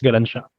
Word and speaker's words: Galansiyang: pronounced Galansiyang.